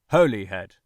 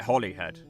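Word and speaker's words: Holyhead: No, I'm not having someone pronounce it for me this time, but funny story, I actually grew up calling it Holly Head. When I learned that I was wrong, I was so embarrassed.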